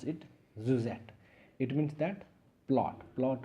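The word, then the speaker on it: syuzhet: Josette is sy u z h ET we pronounce it Suzette it means that plot plot of a unitary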